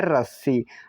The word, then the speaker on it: रस्सी: आर से तो होता है र। क्या? र। ए साइलेंट रहेगा, एस का मतलब आधा सा, यहाँ पर दोबारा एस है तो हम स्वा लेंगे पूरा सा, यहाँ पर आई का मतलब बड़ी की मात्रा, तो हुआ रस्सी।